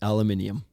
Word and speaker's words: aluminium: over a roof on aluminium. Oh, that is bullshit. Who says that? No American says aluminium. Nope. The Brits, the Aussies, everybody outside North America.